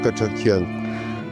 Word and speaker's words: Katchadjian: Mi apellido yo lo pronuncio Cachón.